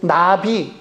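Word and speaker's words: נביא: 부름 받은 자입니다 펠라 히브리어로 나비 나비 라고 합니다 날아다니는 나비와 발음이 똑같습니다 그런데 그 뜻은 부름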